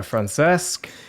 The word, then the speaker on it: Francesc: France s hello France esque hey how's it going how are you pretty good that was a decent pronunciation of my name oh thank you that